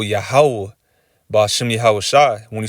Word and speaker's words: Yahweh: And when you say it all together, it's Yahweh.